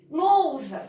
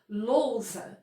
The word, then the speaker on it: lousa: Lousa, eu não separo para falar, eu não falo lousa, né? Eu falo lousa. Então são duas sílabas, lousa. Na sílaba lou, eu tenho um ditongo.